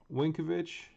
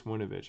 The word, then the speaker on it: Winovich: back for the jaguars chase uh winkovich winovich chase winovich i've been pronouncing his name run the whole time james connor joe scobert